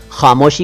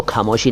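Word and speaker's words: ख़ामोशी: खामोशी को खामोशी ना कहें, खामोशी यानी चुप्पी कहते हैं हिंदी में, साइलेंस।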